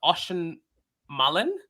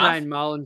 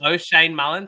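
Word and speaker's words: Oisin Mullin: this name wrong, but Ocean Mullen tagged Jason Horne-Francis in the second half. O'Shane Mullen, Janeth. O'Shane Mullen. Thank you very much, Bills.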